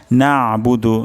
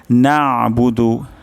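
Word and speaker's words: نَعْبُدُ: আমরা আগেও শিখেছি যে আইনের উচ্চারণ গলার মাঝখান থেকে হয় তো এখানে উচ্চারণটি হবে নাবুদু তো অধিকাংশ ক্ষেত্রে এটার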